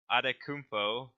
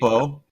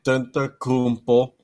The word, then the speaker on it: Antetokounmpo: So we're starting with MVP, and our wheel decided to nominate James Harden, Giannis Adetokounmpo, if I can pronounce that correctly. Antetokounmpo, Yeah. Antetokounmpo.